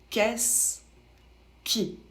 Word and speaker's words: qu'est-ce qui: qui pour la prononciation ça se prononce qu'est-ce qui ici votre verbe il